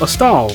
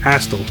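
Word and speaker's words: Astal: out and number eight i have a stahl or astell depending on how you pronounce it a stall is a 2d side-scrolling platforming game developed and published by sega in 1995.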